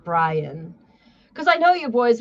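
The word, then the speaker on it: Bryon: Um, so what I my favorite part about this whole stupid uh Byron gnome, Brian Gnome, sorry, it's spelled weird. It's B R Y O N B R Y O N. Brian, cuz I know you boys want to go look at those titties later.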